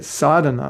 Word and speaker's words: sadhana: So they don't say sadhana, which has a long A in the beginning.